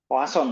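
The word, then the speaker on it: Poisson: sekarang kalau yang eh ini Poison poason Kalau bahasa Prancisnya bacanya ya Nah sederhananya untuk apa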